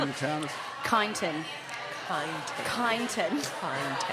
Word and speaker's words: Kyneton: Kyneton. Kyneton. Kyneton. How do you spell that?